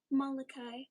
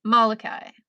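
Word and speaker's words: Molokai: So, it is the name of one of the islands and I just do not know how to um pronounce it. Malachi. Malachi.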